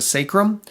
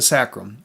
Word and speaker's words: sacrum: have both pronunciations where you can have a long a sound and call it the sacrum or you can call it the sacrum either one I've looked